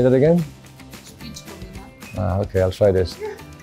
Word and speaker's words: Špičkovina: Špičkovina. Ah, okay, I'll try this. Wait, what's that mean? Ah, okay. Špičkovina. Did I say it right? Yeah. Ah, see. I like Croatian words. Špičkovina.